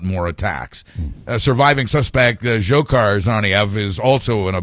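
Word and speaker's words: Dzhokhar: pronouncer guy as far is it zokar or Zohar I've had or or johar I've heard it pronounced like 10 different ways as I understand it based on my familiarity with Russian names zokar zokar or zokar is the uh is the pronunciation of his first name where you get SV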